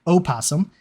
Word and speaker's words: opossum: I will pronounce it opossum because there is actually a different species that is called possum.